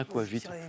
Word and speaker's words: aquavit: à l'quavite parce que je crois que le on prononce le t final non je sais plus j'ai un doute moi je dirais aquavite oui on le prononce on me dit que oui donc il y a un petit thé à la fin qu'on prononce à qu vite alcool scandinave qui peut